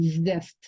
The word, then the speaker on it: zest: zest 상당히 어려운 발음이에요. z 발음 zest.